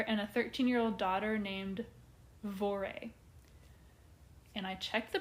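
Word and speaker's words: Voirrey: Margaret, the mother, and a 13-year-old daughter named Vore. And I checked the pronunciation on that, and that is what the internet told me to say.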